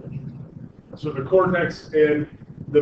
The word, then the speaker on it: medulla: I know it looks like it should be pronounced the medulla. I've heard it pronounced that way, but really the most appropriate pronunciation is the medulla.